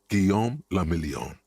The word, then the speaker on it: Guillaume le Million: For Revachol, your city, that meant only one thing: Guillaume le Million. If it doesn't rhyme, you're not pronouncing it.